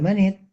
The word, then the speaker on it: Manet: escribió un libro sobre Mané. Recuerden que lo pronuncio en francés, es Manet en castellano, mané en francés.